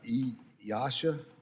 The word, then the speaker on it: EASA: regulators, such as, and I don't know if EASA, is that how you pronounce that? You got it.